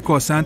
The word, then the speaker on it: croissant: Y sí, tienen ese croissant que la mayoría de la gente no puede pronunciar bien. Oye, ¿sabes el secreto? Solo ponle un poco de acento francés.